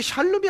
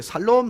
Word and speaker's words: 샬롬: 근데 안타까운 것은 경상도 사람들은 이게 샬롬이 아닌 거예요. 살롬 살롬 그러는 거예요. 이게 사투리다 보니까 시옷 발음이 쌍시옷이 안 되는 거예요.